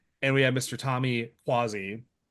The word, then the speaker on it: Cuozzi: Tommy Quasi. I, you know, I worked on pronouncing his last name and hopefully I didn't screw that up too bad uh for this one.